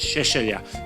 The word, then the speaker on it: Seselja: surname most people struggle there is a croatian way of pronouncing it which is Shelia but I don't insist